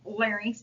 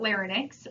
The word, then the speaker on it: larynx: um their larynx and it's pronounced larynx not Linx larynx is um pretty